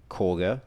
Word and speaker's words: Kagha: tilsus here but um corger even though it's spelled kagger but Korger the um the Druid